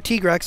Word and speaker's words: Tigrex: for this for the tigrex or t-grex as it's pronounced correctly he wipes my board